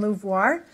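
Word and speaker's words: LUVOIR: I'm a co-chair on Louvoir. Louvoir is not a French word. Do not pronounce it Louvoir.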